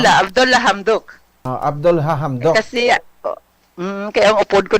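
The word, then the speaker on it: Abdalla Hamdok: Ano mag-pronounce? Abdullah Hamdok. Abdullah Hamdok.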